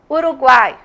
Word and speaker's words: Uruguai: Uruguai, mesma coisa. E aí tem os exemplos que eu coloquei para vocês verem. Vamos lá. Botei Paraguai, Uruguai. Quais? Esse U é pronunciado fraquinho.